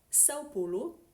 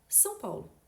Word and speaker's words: São Paulo: Par exemple, on a les mots Sao Paulo qu'on prononce en français comme ça, on adapte la prononciation à la française. Pourtant, si je parle avec quelqu'un qui parle portugais couramment, je peux dire tout simplement São Paulo.